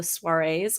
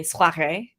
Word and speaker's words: soirée: Yeah, and honestly, the way that we're doing this is somewhat similar to how the soirees go, or I should say soirée, because that would be the more French correct pronunciation, I believe.